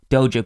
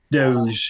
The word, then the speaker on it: Doge: Is it Doja or Doge? Doge. Doge. Doge. Oh, you've been saying it wrong, dog, on the podcast.